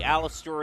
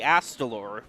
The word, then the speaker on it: Astalor: out just needs to find the Aleister at this point and he's all set or the astalor is how it's pronounced I always mispronounce that